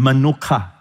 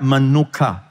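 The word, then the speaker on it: מנוחה: It helps you to remember the manuka honey. All right, same pronunciation, manuka. All right, manuka.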